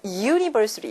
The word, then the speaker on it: university: 또 비슷한 맥락에서 university라는 단어, 대학교라는 단어인데 U로 시작하지만 실제로 발음상으로는 JU로 시작해서 university 이렇게 발음이 납니다.